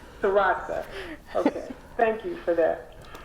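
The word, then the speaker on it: Dzirasa: Sure. That's not going to help you, but Dr. Jarasa, D-Z-I-R-A-S-A. So you're right. Jarasi? Is that right? Jarasa. But Jarasa. anyway, I wanted to say Jarasa.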